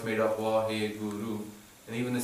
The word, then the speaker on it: Waheguru: So the one meaning is that Vaheguru, the experience of Vaheguru is Guru.